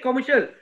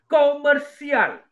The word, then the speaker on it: komersial: We don't say commercial. Komersial. Maksud yang kedua. S-I-A-L. K-O-M-E-R-S-I-A-L. Komersial.